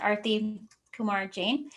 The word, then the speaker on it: Arti Kumar-Jain: wanted to tell everyone my name is pronounced arthy kumar jane and i've been working